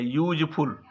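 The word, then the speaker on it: useful: अब यहां पे यूजफुल, ये देखिए यू से शुरू है, वावेल से, लेकिन इसका उच्चारण किससे है, य से है, यूजफुल।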